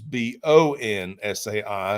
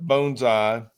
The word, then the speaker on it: bonsai: So we would read ba n s ai is banzai. The Japanese vernacular would say bonsai. The same with bonesai and bonsai. So it's a pronunciation. Tomato tomato. I don't get wrapped up around the spokes with things like that. Um but just so you know, bonesai is proper.